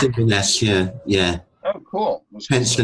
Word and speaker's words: Inverness: One question for you: did I pronounce Inverness right, or how's you that did? said? Yeah, it's Inverness.